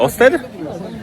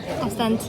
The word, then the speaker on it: Ostend: I mamy wyjątkowe szczęście, bo jest sobota, a w sobotę na wyspie w miejscowości w miasteczku Osten. Ostant. ostent yyy jest market.